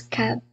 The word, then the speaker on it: CAP: whether I pronounce it CAP or KAB team from the Philippines. Are you guys here? Yes, ma'am. Okay, so it's supposed to be KAB team or CAP team? It's pronounced as CAP team.